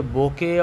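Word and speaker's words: bouquet: Bunch of flowers, A বোকে of flowers, BOUQUEET, ওই ওয়ার্ডটা এখানে নেই, আমি বলে রাখলাম যারা আগ্রহী টুকে নাও, BOUQUEET, উচ্চারণ বোকে, বয়ে ওকার কয়ে একার, বোকে, এ বোকে of flowers অথবা এ বাঞ্চ অফ ফ্লাওয়ার্স।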